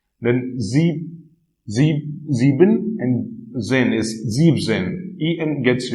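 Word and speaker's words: siebzehn: Again for 17 it is 17. Again star mark because EN here is removed in this 17.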